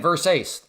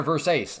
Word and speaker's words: Versace: Versace. I'm I'm saying it right. Versace. Yeah, I got it. Thank you everybody. Yeah, the fashion designer verse ace.